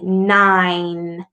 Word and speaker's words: nine: in the middle but that e at the very end is silent so you say nine so the n is